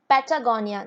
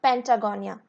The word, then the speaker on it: Patagonia: is a correction here it's patagonia not pentagonia so the correct spelling